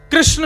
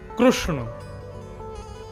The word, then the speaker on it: कृष्ण: क्या क्या बोलते हैं कृष्ण शब्द शुद्ध उच्चारण नहीं करते हमारे गुजरात में चले जाओ कृष्ण कृष्ण रुक्मणी नहीं रुक्मणी कृपा नहीं कृपा हृदय नहीं हृदय गुजरात की भाषा अलग है लेकिन वास्तव में कृष्ण यह शुद्ध उच्चारण है तो महात्मा ने उसको